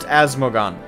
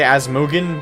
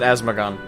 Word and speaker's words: Asmogan: If it's talking about me, it's pronounced Asmogan. I know some people say Asmogan, but I pronounce it Asmogan.